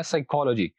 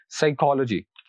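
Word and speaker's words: psychology: हैं, और यहाँ पर इस वर्ड में आखिर से तीसरे वाला सिलेबल है को, तो यहाँ पर हम इस पर स्ट्रेस देंगे और ये कुछ इस तरह प्रोनाउंस किया जाएगा, साइकोलॉजी, साइकोलॉजी। Next word is necessary, और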